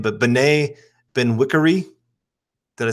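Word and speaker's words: Bené Benwikere: just don't want to say his name, but Benet Benwikere. Did I say that right? That was good, man. Okay, I'll take it. Okay, Benet Benwikere.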